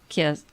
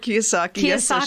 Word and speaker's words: Kiyosaki: of work with Robert kiss I'm saying his name Ron kiss ah yes I'm saying it wrong yeah me with Robert Kiyosaki's she was part of